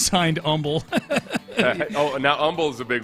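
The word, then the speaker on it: Humble: of pointing out that he knew how to pronounce Umble, but it was funny.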